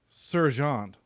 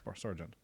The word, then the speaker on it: Sargent: Or Sergeant, but I think it's Sargent. It's spelled the same.